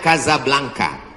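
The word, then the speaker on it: Casablanca: nama negaranya Maroko ibukotanya tulisannya Caca blancha cara bacanya Kadzab langka Kaza artinya rumah Blanca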